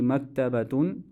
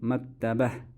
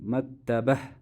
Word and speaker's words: مكتبة: Since I am stopping at it, so I will not pronounce it as Ta. Instead of saying هذه مكتبة, I'll say هذه مكتبة.